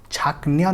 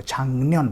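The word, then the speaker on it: 작년: Change कर देगा, तो इसको हम पढ़ेंगे छांगन्यन, छांगन्यन, छाकन्यन नहीं पढ़ेंगे, इसको छांगन्यन पढ़ेंगे।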